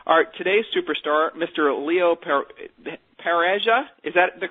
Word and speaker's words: Pareja: Leo Pareja, is that the correct pronunciation? Pareja. Pareja, sorry.